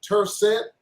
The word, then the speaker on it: Tercet: I think you pronounce it Tercet, T-R-C-T, Tercet.